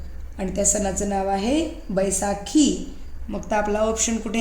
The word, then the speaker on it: Baisakhi: बाहाकी. बाहाकी नाही, BAISA. SA ला काय असतंय? सा. हां. आणि KHI? बैसाखी.